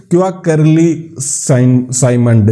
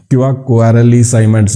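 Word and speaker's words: Quacquarelli Symonds: तो पहली तो है क्वार्टरली साइमंड इसको बोलते हैं, क्वार्टरली साइमंड्स भी बोल सकते हैं। मैं इसको क्यूएस प्रोनाउंस करता हूँ, तो प्रोनाउंसिएशन में थोड़ा बहुत अंतर कई बार आ जाता है।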